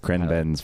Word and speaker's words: ChrenBen's: ChrenBen's Friend Trends.